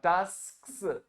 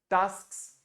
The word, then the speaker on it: tasks: That first I pronounce S then K. Okay, yeah. Tasks.